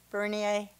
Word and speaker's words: Bernier: we will now hear from Bernier if I've said that correctly said it right thank you for allowing me to speak today my name is Berne and I traveled from Fullerton California to